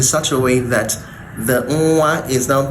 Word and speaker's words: nwa: It's akin to what you have in the English word singing and ringing. So when nwa is used to form